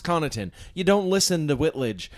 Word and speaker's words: Connaughton: come in and said oh is that Pat connington to which I said no it's pronounced Connaughton you don't listen the Whitledge and and she